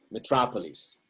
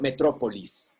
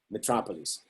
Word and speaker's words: metropolis: english so Mitra please metropolis and is not metro police right metropolis the chapel is in